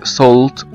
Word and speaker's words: salt: في الحلقات اللي فاتت، عرفنا ان حرف الـ A لو جه بعد منه L L بيتنطق O، ولو جه بعد منه L T بيتنطق O هو كمان، وقلنا زي كلمة بول وزي كلمة salt salt الناس كتير بتنطقها غلط، وكلمة بول كمان، وكلمات